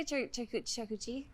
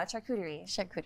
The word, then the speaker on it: charcuterie: me to say how did you use to pronounce it before i used to say a character close enough yes but i know how to say it now charcuterie yeah can you say that like ten times shakutari not ten times after the first couple glasses